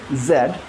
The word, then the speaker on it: Z: G Z G Z if you want to keep your British way zed. But you have to understand American pronouncing Z. If they say Z, they're not saying this. they're saying this.